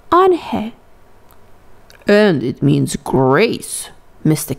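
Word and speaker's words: Unhei: he asked her with his eyes open wide angel looked quickly at mr kim then turned to joey she nodded slowly yes it's pronounced ange and it means grace mr kim added on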